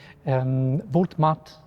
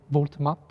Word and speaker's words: Voltamitte: you said about the Voltamitte house complex in Basel. Voltamitte, I think the pronunciation is wrong. We call it Volta. Mitte.